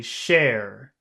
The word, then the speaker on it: share: to share a secret can you whistle when you say share share okay share share that's better yeah that's better sure share that's more that's better so it's not s but share you've got to whistle